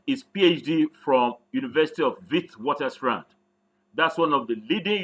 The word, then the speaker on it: Witwatersrand: PhD from University of Witwatersrand. That's one of the leading universities in Africa. Mind how I pronounced it, University of the Wit. It's as if you're pronouncing a V, not wit.